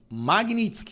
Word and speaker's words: Magnitsky: Os ministros do STF, a imprensa, à esquerda não faziam a menor ideia do que era essa tal lei Magnitsk. Magnitsk, a pronúncia correta, tá?